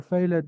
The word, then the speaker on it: failed: Have you ever failed an exam? No, I haven't. Thank you, boys. This is amazing. But this is what, Gadi? Failed. Failed. Okay. So please, the E is silent.